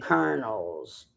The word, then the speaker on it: colonel: I fixed generals helicopters and colonels and lieutenant colonels. It's spelled at Lieutenant Colonels.